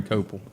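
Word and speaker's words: Kopell: Chase to me yeah he resem yeah Bernie copel is how you pronounce a copel but you know who doesn't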